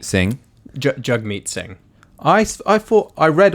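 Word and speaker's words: Jagmeet: got a new leader hug meet sing jug meet sing I fought I read on his Twitter he said it's pronounced hug me but I mean you've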